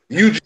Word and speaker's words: Yuji: Yeah, that's why it sounds like Eugene. It's Eugene. I was thinking Eugene, actually.